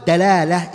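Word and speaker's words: دلالة: Because the word dalala is bidali, is dal. And if you say dalala as a dad, which is another makhraj, the meaning become two opposite meanings. Hidayatu dalala bidali, it means the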